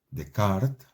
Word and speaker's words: Descartes: francés que se llamaba René decart se escribe Descartes propuso una cosa que